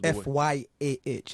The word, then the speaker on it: Fyah: And Fire's not spelled... F-Y-A-H. It's spelled with a Y, A-H. Fyah.